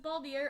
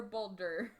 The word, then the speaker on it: Baldur: ball deer uh and is it baldier or boulder boulder well that's how they pronounce it i have no idea apologies to my icelandic relatives for all of our attempts at pronouncing the norse gods uh i don't we'll call we'll go with baldur i think that's like the normal anglicization missile 2 kills boulder